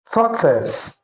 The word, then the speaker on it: tortoise: Now according to this transcription, this word is actually pronounced as totis.